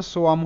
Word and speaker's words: swam: এই যে এখানে আছে, এখানে তোমাদের WA ওয়া হিসেবে উচ্চারিত হয়।